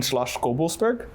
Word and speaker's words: Schloss Gobelsberg: young rosé from a very old estate in Schloss Gobelsberg. Wow, you pronounced that perfectly.